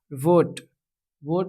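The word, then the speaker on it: vote: वोट में भी आपका जो है ई साइलेंट रहता है।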